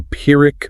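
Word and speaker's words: Pyrrhic: A pirick victory, pronounced pir for anyone taking notes.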